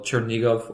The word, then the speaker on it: Chernigov: we went to call chernigov or chern nahive it's different pronunciation based on the Russian and Ukrainian we went to that